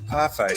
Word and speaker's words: parfait: it's a parfait. Is that how you say it? Yeah, it's a parfait. Parfait, yeah. Yeah. Not parfait, you dumb fuck.